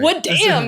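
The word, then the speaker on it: wadm: created what we call Wood Dam the web assembly wasm Cloud deployment this is great w Dam yeah we say it like a punch yeah go we say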